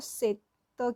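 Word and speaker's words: 셋: तो अभी यहाँ पे इसलिए त की आवाज़ आ रही है, तो क्योंकि हम सेट बोलते हैं, से एक ए होता है ना, ये ए होता है ना, तो जब हम ए बोलते हैं, स के साथ बोलते हैं, तो से त की आवाज़ आ रही है लास्ट में ना, तो ये सेत हो गया, इसलिए यहाँ पे ये साइलेंट है।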